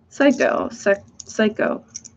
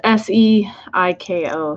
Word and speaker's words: Seiko: Psycho. I think I am forever going to mispronounce that.